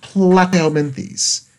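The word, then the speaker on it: Platyhelminthes: next up is phylum plateau menthis so these are now here part of the lo petrocazoa so these are otherwise class known as flat worms notice glass plat rhymes with flat for those of course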